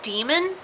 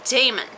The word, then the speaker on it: Damon: really bothering me is she is calling Damon demon and like to be honest it is spelt a little bit different that is how Damon is spelt but if it was DEA emmalin I kind of stand demon but it's an a it's Damon it's Damon so I think I'm